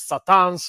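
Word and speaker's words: C'tan: to be a race called the Catans, which could be actually pronounced as Satans, which all You the get that whole thing. Christian lore about Satan and such. But yeah, I call them the Catans.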